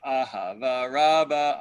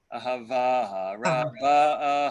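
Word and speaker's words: אהבה רבה: So you will hear some people get up and say Ahava Rabbah, Ahavtanu, right? Pronouncing the ah of Ahava. Mhm. That's incorrect. It's the last syllable that should be pronounced. Ahava Rabbah, Ahavtanu.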